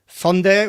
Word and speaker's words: Hyundai: Funday, which is the right way to pronounce Hyundai, just in case you're wondering.